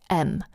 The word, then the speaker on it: em: pronounced em it's pronounced M so it's pronounced in the same way that this letter is in the alphabet why is that well